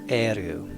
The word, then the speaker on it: Eru: that today and uh in the elvish language god is pronounced as eru all right so we'll